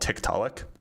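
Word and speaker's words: Tiktaalik: So, the fossil, if you want to look it up, it's called Tectalic. Um, it's spelled T I K T A A L I K.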